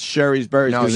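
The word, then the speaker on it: Shari's: Sherry's Berries all morning, and it is Sherry's Berries. I mean, it is Sherry's Berries, not Sherry's. Sherry doesn't rhyme with berry.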